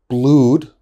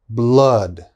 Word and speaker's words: blood: my students often say blued that is wrong okay this is blood blood flood blood flood so it's a very strong ah blood flood okay and the last